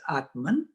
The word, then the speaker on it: Atman: And these are two, I mean, the exact pronunciation, Brahma and Atma, but then in English we don't put an end at the end.